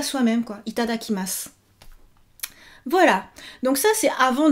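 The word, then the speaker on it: いただきます: 6 syllabes, mais vous vous souvenez qu'il y a toujours petite voyelle muette. À la fin, vous dites pas itadakimasu, mais itadakimasu.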